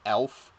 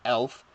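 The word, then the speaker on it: Elph: It has a Russian relative called Elf. Yes, Elf. Spelled E-L-P-H.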